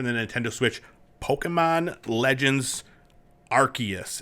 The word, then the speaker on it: Arceus: nintendo switch pokemon legends arceus is it arceus arceus is it a hard c it's a soft sea okay um yeah so